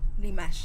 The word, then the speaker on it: Dimash: A ver, ¿es Dimash o Dimash? Dimash. No. Dimash Divergien. El acento en la E, digo en la A. Dimash.